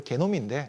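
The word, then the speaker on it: genome: 미국, 유럽, 일본 할 거 없이 13국에다가 이런 어떤 지놈, 네, 뭐 미국식 발음입니다. 원래 개놈인데 네. 똑같은 거죠.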